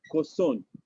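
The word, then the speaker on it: kosong: 0 is a Koson. Koson. K-O-S-O-N-G. 0. Koson. Koson. The G is silent, silent.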